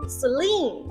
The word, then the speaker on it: Celine: First one，以肿脸包闻名的斯林 Celine，重音放在前面。